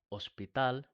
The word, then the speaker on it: hospital: We have "huevo" (egg), now, "hospital," right? And many more words where the H is silent.